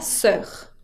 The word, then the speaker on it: sœur: No se pronuncia como una O, sino que como una E.